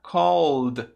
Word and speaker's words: called: O som do ED vai virar um som de D. Então vai ficar called.